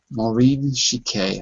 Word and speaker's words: Chiquet: uh, uh, in French it's chic. It's Maureen Chiquet. I don't know if you say pronounce it that way, but if she's in France, it'd be Chiquet, like this.